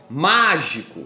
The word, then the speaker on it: mágico: Então ela possui 3 sílabas, mágico. E quando você usar a regra do grito, mágico, mágico, você percebe que o de mágico é mais forte.